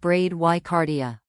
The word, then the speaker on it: bradycardia: Bradycardia, pronounced bradycardia.